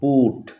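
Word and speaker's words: put: তারপরে শব্দটি দেখো পি ইউ টি, এখানে আবার দেখো ইউ এর পরে ডাবল এল নেই বা একটি এলও নেই অথচ ইউ ভাওয়েলের উচ্চারণ উর মতো, পুট।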